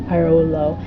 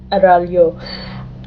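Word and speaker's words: Araullo: plans to, such as Extra Credits and Kirby Arolo, and I'll link to their videos relating to that down below. Editing Laudaya here, so I know that Kirby's last name is pronounced Aralyo.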